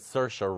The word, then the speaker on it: Saoirse: Well, I'm interested in the fact that Saoirse Ronan, that's how you say it, folks, Is Saoirse in.